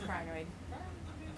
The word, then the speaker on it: crinoid: technician thinks that he they're pronounced kinoid but he's wrong it's choid he also the tomatoes